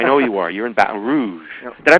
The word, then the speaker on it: Baton Rouge: all that I know you are you're in Baton Rouge did I pronounce that right yeah Baton Rouge batan Rouge that's how they say it batan Rouge batan Rouge I'm I'm pretty good at lingu